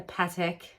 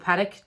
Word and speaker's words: Patek: Well, I would definitely get a Patek, or Patek, depending on how you pronounce it, but Patek Philippe.